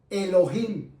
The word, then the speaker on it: Elohim: ya en el lenguaje original del hebreo se pronuncia y se dice Elohim.